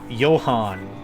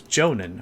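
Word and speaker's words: Jhonen: And I'm like, "Oh, I've been pronouncing it like yo yoan." Like that. I've been pronouncing it like that. Yonan. That's how I've been pronouncing it for years. And dudes MySpace just call me Joe. It's like, "Oh, it's Jonan."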